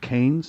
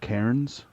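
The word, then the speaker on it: Cairns: um the Australian city is it canes not Kens canes I don't know that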